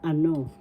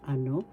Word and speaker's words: ano: say it again So ano first syllable a second syllable no so no is where the accent is so you pronounce this ano that means what ninyo